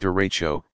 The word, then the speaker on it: derecho: meters you what is a derecha you pronounced derecho this is large long-lived